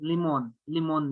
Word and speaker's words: Limon: First of all, its pronunciation is Limon Media, Limon.